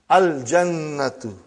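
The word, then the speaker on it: الجنة: Brother, you will pronounce lam. Al-jannatu.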